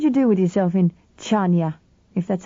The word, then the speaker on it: Chania: "What did you do with yourself in Chania, if that's how you pronounce it? You don't say the CH like ours. It's a sort of breezed K, like in Locke. Chania."